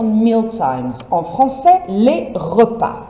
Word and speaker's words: repas: En français, les repas. You can see here the spelling of it is not straightforward because you have a silent S on the end of it.